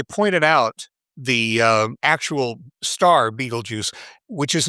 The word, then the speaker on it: Betelgeuse: one night, I pointed out the actual star Betelgeuse, which is not pronounced Betelgeuse. Am I correct on that? How is it officially pronounced? How fancy you are. I know plenty of astronomers who just say Betelgeuse because they don't want to sound kind of